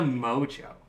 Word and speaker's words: Mongeau: Tana Mojo. Is that how you say her name? Mm-hmm. Oh, wow.